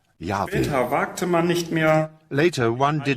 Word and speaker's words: Yahweh: Mas na Bíblia amplamente distribuída Elberfelder, nós lemos: The Israelites never said Jehovah, but in all likelihood Yahweh.